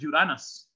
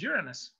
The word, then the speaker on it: Uranus: By the way, the original pronunciation is Uranus. The modern pronunciation is Uranus.